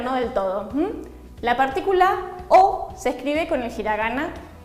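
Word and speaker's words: を: Entonces siempre lo vamos a leer como O. Por ejemplo, como una manzana se dice ringo o tabemasu. Lo leo como O.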